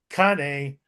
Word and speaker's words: canne: Well, the pronunciation, I believe in French is canne. Or the English equivalent is cane, which is kind of a walking stick that is de- designed specifically for fighting.